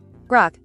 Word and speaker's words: Grok: We're going to keep going through G-Rock. Is it Grok? G-Rock? I don't even know. Grok. Let's ask the bot. How do you say that name? Grok. Grok. I was right.